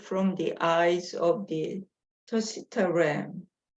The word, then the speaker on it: Tusita: the eyes of the Tusita ram. 이 발음이 맞아요? Tusita ram? 투시타 비슷해요. 내가 찾아봤을 때 투시타 램. 투시타라고 돼 있었어요.